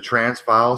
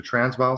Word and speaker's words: Transvaal: I think where the the trance the the transpile spheres is that correct it I pronounce that properly the Transvaal spheres yeah well the Table Mountain discoveries I